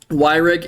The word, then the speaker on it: Yreka: of the group chat urea oh it's pronounced why re you know what Greg I've said it too many times at this point to go back on it I'll just forget it's urea now uro was once the